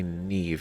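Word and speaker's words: Niamh: I I pronounce it NE right but I heard personal rackam say Neeve and I'm like that's why why is that's not that's spelled only for me to realize that it's actually Irish and that's the the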